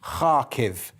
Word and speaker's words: Kharkiv: the Second City of and I know I'm pronouncing this correctly because I was told by Rhiannon yesterday kharkiv there we go so